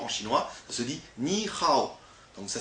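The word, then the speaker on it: 你好: Ça se dit ni hao. Donc ça s'écrit comme ça, avec un H. Mais en fait, le H se prononce R. Donc on dit ni hao.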